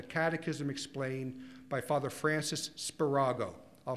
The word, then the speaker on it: Spirago: It was called The Catechism Explained by Father Francis Spirago. I'll spell it for you.